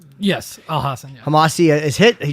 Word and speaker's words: Al Hassan: Razak Al Hassan. Is that how you say his name? Yes, Al Hassan.